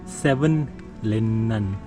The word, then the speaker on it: Savonlinna: And I think I said the name wrong. It's Savonlinna, and Savonlinna is the place.